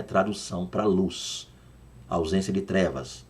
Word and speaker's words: Luz: não é tradução para luz ausência de trevas luz não luz é a pronúncia luz O que quer dizer luz tradução incerta mas luz é pronúncia e não tradução aí o hebraico aí